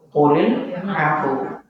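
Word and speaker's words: قل العفو: klil af keliru nya secara ilmu tajwid yang benar gini qulilu qulil afu gitu bukan af af gitu keliru ya qolil afu ya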